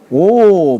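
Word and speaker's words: 惡: 호인자 인을 좋아하는 자와 오 불인자 이때 악할락자를 미워한다 싫어한다 할 때는 오라고 읽는 것이죠.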